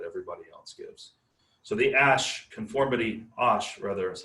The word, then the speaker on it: Asch: So the Asch is how it's pronounced, conformity experiment was sort of a classic and definitely show up on your final exam.